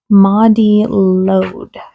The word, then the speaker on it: Mari Lwyd: Her name is Mari Lwyd. And yeah, I know it doesn't look like it's pronounced that way, but it has a pronunciation in here, so yay!